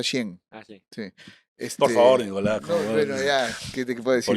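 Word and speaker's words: Shein: Shane se escribe Shane, entiendo que se pronuncia Shen.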